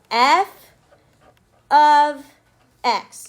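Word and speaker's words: f(x): notation all year long you pronounce this F of X so write that down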